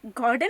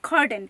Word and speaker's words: Gordijn: Well let me correct you, इट्स नॉट अ गॉर्डन, इट्स अ खॉर्डन, क्योंकि Dutch जो है वो जी को ख प्रोनाउंस करते हैं।